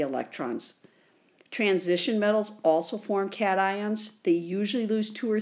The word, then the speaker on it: cation: is called a cation I know it looks like Cashin but it's pronounced cation and I remember it's